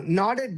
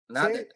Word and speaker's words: nodded: No no nodded means like this.